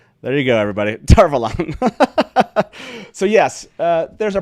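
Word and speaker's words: Tar Valon: quite self-evident that's correct robert jordan just said tarvalan which i thought was quite self-evident there you go everybody darvalon so yes uh there's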